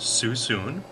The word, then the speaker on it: Suisun: wine from susun Valley s-u-i-s-u-n pronounced susun I've never even heard